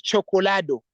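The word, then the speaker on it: ĉokolado: There is chocolado. If you see a C with a cap, my dear, don't say it's a C, it's a cho.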